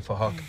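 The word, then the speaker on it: Phuc: It was spelled with a PH, so it sounds like Fahok.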